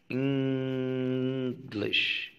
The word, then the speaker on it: English: الصوت ده موجود في كلمة English English, الان جي هنا إن, ما قلتش إنجلش تبقى مش نافعة, لكن إنجلش. شفت الخنفان, يعني كلمة إنجلش فيها صوت من الأصوات اللي الناس مهملة ومش عارفة, هو بيجي تلقائي في كلمة إنجلش.